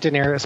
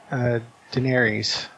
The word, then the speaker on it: Daenerys: They pronounce it Daenerys, but it's Daenerys. Ah.